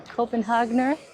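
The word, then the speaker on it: Copenhagener: called a copen hoger hi can I please have a copen hogner yeah of course am I saying that correctly yeah okay okay I got our copen hogner I said it right I made sure I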